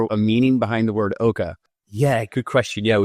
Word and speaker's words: Oka: And also, is there a meaning behind the word Oka? Yeah, good question. Yeah, it gets pronounced a number of different ways. Oka.